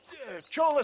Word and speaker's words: Chola: Hardworking souls of Chola Springs! Oh, that's how you pronounce it. Chola. I was like, Cola.